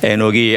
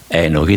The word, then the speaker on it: 에녹: 훈련한다 이런 뜻이 있습니다 원래이 단어는 에녹이 아니고 녹입니다이 목에서부터 올라오 영어에도 없는 발음이고 한국 말에도 없는 녹입니다이 발음을 한 몇 번 하고 나면 배가 고파질 정도로 힘이 들어가는 에너지가 많이 들어가는 그런 발음입니다 발음이 시간이 지나면서 순화되어서 녹이 아니라 에녹이 된 것이죠이 에녹이 사람은 참 신비로운